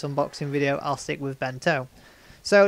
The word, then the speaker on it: Ben-To: combo pack version of bento or been to however you'd like to pronounce it but for the case of this unboxing video I'll stick with bento so it's start off